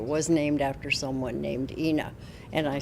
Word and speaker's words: Ina: When I'm on campus, I, when I refer to her, I refer to it as (Ee)Ina Road as opposed to (E)Ina Road and try to explain the historical significance of that but it just doesn't seem to catch on.